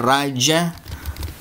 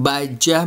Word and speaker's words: Raja: lalu setelah itu ada raja bukan baijah bacanya masih di bawah ya